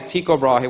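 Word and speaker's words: Tycho: nose and um and teob tiob which is really the right way to say it was a um um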